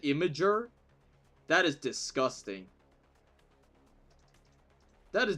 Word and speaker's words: Imgur: what do you mean Imgur that's how it's pronounced you you pronounce it Imager that is disgusting that